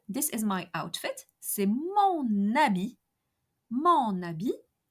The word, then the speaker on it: habit: C'est mon habit. Mon habit. Habit is a masculine singular noun beginning with a H muet.